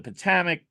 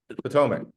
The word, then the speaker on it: Potomac: But that's the Army of the Potomac trilogy. There's lots of The see what? Potomac. the Army. Oh, okay, Potomac.